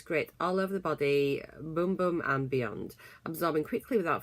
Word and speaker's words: Bum Bum: So had a little look on the internet, and so yeah, it says it's pronounced boom boom, and it just says that.